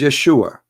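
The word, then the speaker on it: ישוע: pronounce the correct word the correct word in the hebrew is yeshua as simple as that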